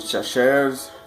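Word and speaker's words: Chachere's: Tony Chachers, however you pronounce that.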